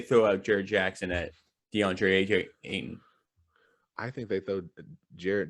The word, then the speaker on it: DeAndre: for is the two centers um i i pronounced the center center for the censored name deandre d'andre thank you uh versus steven adams underneath like